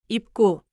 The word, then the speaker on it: 입구: Close your lips at the end of then move into 입구.